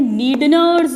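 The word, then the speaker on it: Schneider's: और हमारी जो ऑलफैक्टरी एपिथेलियम है उसे कहते हैं नीडनर्स मेम्ब्रेन। बहुत क्वेश्चन पूछते हैं नीडनर्स मेम्ब्रेन, इसमें एस साइलेंट है, नीडनर्स मेम्ब्रेन।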